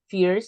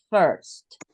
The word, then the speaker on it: first: is a a right it's not Fierce it's not sear okay because at the beginning some people said Fierce and no it's first second and third okay